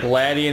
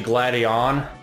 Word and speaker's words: Gladion: thought it was it's like gladian is actually gladion again at least according to the anime all right now we